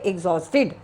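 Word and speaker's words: exhausted: इसको कैसे प्रोनाउंस करेंगे? एग्जॉस्टेड। ई एक्स एच ए एच एच बोल रहे हैं। एच ए यू एस टी ई डी।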